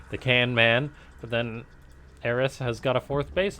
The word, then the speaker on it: Eris: way for both Bots I believe it is actually pronounced heiress I may switch back